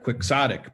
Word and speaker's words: quixotic: Quixote is spelling bee so he anglicize it to pronounce it quixotic but it's from quixote so Don Quixote was